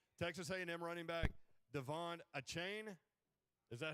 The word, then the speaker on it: Achane: Texas A&M running back Devon Achane. Is that how you pronounce his name? Achane.